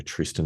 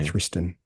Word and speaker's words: Thriston: Now, Tristan Lawrence, and I think it is actually a Tristan, even though it's spelt Thriston, Andy Walker. Well, One of, that's what they were pronouncing. They were pronouncing yeah, Thriston in yeah, the coverage.